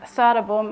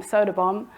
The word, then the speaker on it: Söderbom: So instead of Söderbom, I'm Söderbom. Actually, it's just Söderbom.